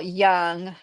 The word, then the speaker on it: Jung: You spelled it right. Except it's is instead of a Y, it's a J. It's a funny word. So it's like looks like Jung Yin, but yes, it's written by Robert A. Johnson, but he's definitely using Yian psychology. And his name was Carl Young.